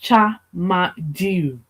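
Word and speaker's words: Tchamadeu: It's pronounced Chamadu, Chamadu. and the Okay. yeah, and the last name starting with a ch sound, followed by Madu.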